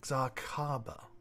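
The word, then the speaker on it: Xarcaba: slide x a r c a b a zarkaba okay go on you asked my name i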